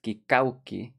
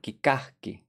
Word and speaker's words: kikahki: Add ki, which tells you it's past tense, kikauki. But then since you can't pronounce that, we'll pronounce it kikahki.